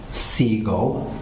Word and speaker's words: Siegel: Uh, my name is Seagull and that is spelled S I E G E L.